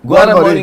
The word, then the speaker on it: ग्वारमरी: How do you say again? Guara. ग्वारा ग्वारमरी ग्वारमरी ग्वारमरी हजुर ग्वारमरी ग्वारमरी आर